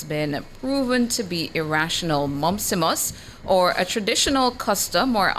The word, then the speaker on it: mumpsimus: Your word of the day is spelled M-U-M-P-S-I-M-U-S, spelled M-U-M-P-S-I-M-U-S.